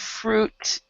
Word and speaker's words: fruit: something to benefit everybody when it comes to words that have UI here we've got Cruise we've got fruit we've got suit so on all of these the eye is silent okay Cru so Cru fruit